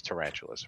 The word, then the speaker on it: Tarantulus: Tarantulus was always tarantulous, right?